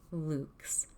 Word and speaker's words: lux: the same way lu x lux is actually pronounced correctly in the latin luke's because it's origin is latin that's through the